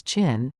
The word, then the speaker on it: Qin: The most famous wall was built between 226 and 200 BC by the first emperor of China, Qin Shi Huang, Qin pronounced as Qin, during the Qin dynasty.